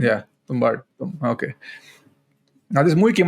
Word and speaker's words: Tumbbad: How's it pronounced? Tumbbad. Yeah, Tumbbad. Yeah, Tumbbad.